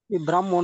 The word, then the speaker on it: ব্রাহ্মণ: উচ্চারণটা ব্রাহ্মণ তাই না উচ্চারণে ম আগে আরকি এই দেখো উচ্চারণে আছে ব্রাহ্ম আগে মার ব্রাহ্ম ব্রাহ্মণ হন স্যার হ্যাঁ তাহলে কি আমি ব্রাহ্মণ বানানটা এভাবে করতে পারি